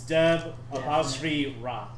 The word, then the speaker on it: Debra: not deor deor it's de no no it's de AP ra there you go that's the God's huh that's